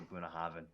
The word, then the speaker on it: Bunnahabhain: you know i just i disagree with the pronunciation even though you know the native the native english speakers over there are pronouncing it the way they do i'll never say i'll never say punahaven ever not gonna happen